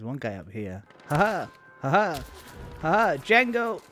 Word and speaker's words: Django: Django. There's no D. D is silent.